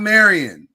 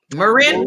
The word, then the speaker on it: Maryn: You're gonna ask for Maryn. Yeah. Not Marion. Maryn.